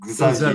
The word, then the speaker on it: Xavier: The French way, so it's the third one. It's Xavier. Xavier.